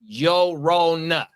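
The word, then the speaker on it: Llorona: The double L makes a Y sound in Spanish.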